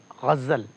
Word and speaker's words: غزل: آج ہم دیکھ رہے ہیں لیکچرر اردو کے اعتبار سے غزل, تلفظ غزل, غین اور جو زیپی ہے زبر ہے غزل, غزل نہ غزل, نظم ہوتا ہے تلفظ کے اعتبار سے.